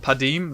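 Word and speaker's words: Padeem: Things like, I think it's pronounced Padim, the Council of Innovation, Console of Innovation, sorry.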